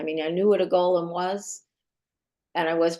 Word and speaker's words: Golem: I knew what a Golem was and I was pronouncing it incorrectly because I was pronouncing it like it is in The Lord of the Rings um which is Gollum uh yeah was Tolen